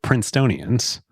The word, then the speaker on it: Princetonian: A few of his fellow Princetonians, while he's in college studying. Is that really how you say it? That is, it is, yes. I'm a Princetonian.